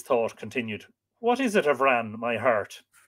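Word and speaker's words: Bhran: Avran, because Bran, when you say Avran, would be lenited. So it would be a separate word, B-H-R-A-N, pronounced V-R-A-N.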